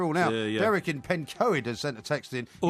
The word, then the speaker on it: Pencoed: It's Pencoed, actually, is how you say it.